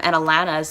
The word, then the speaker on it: Alana: her name, and also like Canadian A's are really different, like they say lava instead of lava, and Alana's name is Alana, you know, because she's Canadian again.